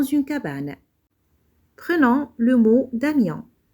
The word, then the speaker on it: Damien: Prenons le mot Damien. Dans ce mot, le son ion s'écrit avec 3 lettres, I, O et N. J'entends ion et je vois I, O, N.